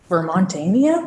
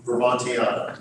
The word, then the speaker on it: Vermontiana: Our physical collections that are located at the Department of Libraries in Barrie really focus on, I think that the word is Vermontania. What is the word, Tom? Vermontiana. Vermontiana.